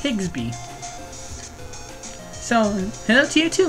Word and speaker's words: Higsby: his name is prenata let's just see it's higsby so hello to you too Mr digsby and